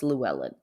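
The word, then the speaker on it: Llewellyn: belongs to his brother Lou Ellen I don't know if I'm saying it right it's l l e w l l y n I'm saying it's Luellen yeah um so ree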